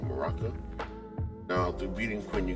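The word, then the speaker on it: Muraka: That's how you say his name, Maraka. Now, through beating Quint, you get these drops that allow you to trade and get witches, earrings, and ogre rings, while as beating Maraka allows you to get a chance to get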